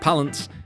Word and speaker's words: Palance: peppered in the little fun fact there that palance and yes that is how you pronounce palance served as the basis for the